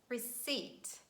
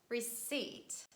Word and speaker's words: receipt: psychology psychic pneumonia pterodactyl another random word where letter p is silent please learn this word and this is receipt receipt that's some paper that